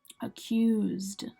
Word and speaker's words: accused: Accused. Accused. Again, it's an ED, but it's just sounding like the D at the end.